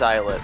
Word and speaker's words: islet: thing pull up youtube pronounce kind of like island looks like island what's is lit isn't it uh i-s-l-e-t uh and island is is l-a-n-d it is eyelid oh my god well